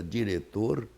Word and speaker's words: diretor: criança, ao aprender ou ao ouvir a palavra diretor, jamais colocará um C, porque ele não ouviu esse. É pura letra, não é um fonema, não é um som da língua, não é?